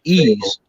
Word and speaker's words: Ys: games like uh like like uh ease it's pronounced ease but it's actually y it possibly philosophy yes